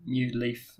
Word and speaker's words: NeuLyf: have Bruce Cartwright from new life which is spelled in EU ly f isn't that right Bruce yeah and so you can say new leaf as well so for a long